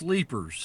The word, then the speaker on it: Leiper's Fork: Leiper. It's pronounced Leapers.